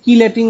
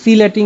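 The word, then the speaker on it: chelating: ইংরেজিতে লিখলে দেখবা যে সিলেটিং এজেন্ট হয় সি এইচ ই এল ই এ টি আই এন জি এটাকে বলা হয় কেউ বলে সিলেটিং কেউ বলে কিলেটিং যে যেটা উচ্চারণ করুক ওইটাই সঠিক তাহলে সিলেটিং এজেন্ট সিলেটিং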